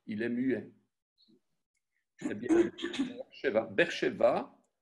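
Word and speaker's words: באר שבע: Beersheva, BR, donc BR, donc vous avez un Sheva très court, B, et puis vous avez un E, BR, BR.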